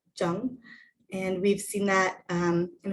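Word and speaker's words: 正: uh right straight main or to correct it's pronounced jung and we've seen that in a few other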